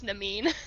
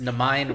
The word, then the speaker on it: Namine: It's Namine. Namine? Oh. Yeah. Well, it's just Namine rhymes with 9, and I thought that was part of the gist, but Nope.